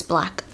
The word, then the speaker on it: 6LACK: its black right it's I think it's pronounced black um but it's spelled the number 6 L ACK but I'm sure it's black yeah because I think